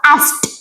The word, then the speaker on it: asked: Nah, kalau ada huruf the di belakang, de di belakang itu dia bacanya qalqola. Ast.